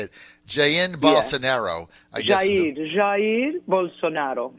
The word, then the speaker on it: Jair: His first name is Jair. It's very soft. A lot of Brazilian names are soft, like Jair Bolsonaro.